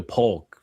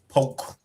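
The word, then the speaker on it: Polk: You got to say it right. Poke.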